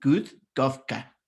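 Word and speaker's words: Kurt Koffka: Y este que escribe Kurt se pronuncia en realidad como Kurt, como si fuera una D suave, ¿no? Kurt Kafka.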